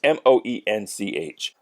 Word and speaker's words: Moench: Doug Moench, I don't know how to pronounce his name. It's Moench. He did the writing, I think, for the entire series.